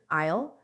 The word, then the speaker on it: aisle: And there's another word, isle. Isle is the space between the seats on a plane or in a theater. The letter S is silent.